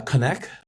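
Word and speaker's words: KONEK: Is that how you pronounce it? Uh connect.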